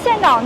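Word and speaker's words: Đà Nẵng: The pronunciation of Da nang is developed from the Cham language.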